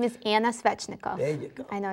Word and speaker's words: Svetchnikov: Tell me your full name, because you have a name that I couldn't pronounce, so I beg that you just work with me. My name is Anna Svetchnikov.